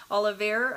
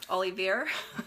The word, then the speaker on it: Olivier: video from Dr Oliver Oliveira I always pronounce his name wrong but he goes by Dr Ali Olivier so it's French I think and um he's